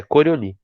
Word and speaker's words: Coriolis: É Coriolis. Se escreve Coriolis, pode ser chamado de Coriolis também, mas a gente chama de Coriolis porque é um nome francês.